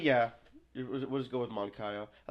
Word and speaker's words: Moncayo: They'll switch even where the mics are introduced, they switch the A and the O. And it's Moncayo.